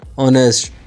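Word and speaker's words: honest: point of view से which letter is silent in ऑनेस्ट तो एच जो है इसमें साइलेंट होगा शी इज ब्रिलियंट स्टूडेंट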